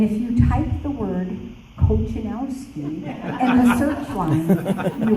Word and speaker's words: Kochanowski: It is pronounced Kochanowski.